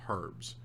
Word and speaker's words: herbs: do that these heretical herbs heretical herbs heretical herbs heretical herbs you know they they actually pronounce the h in the uk they call them herbs and i'm like that's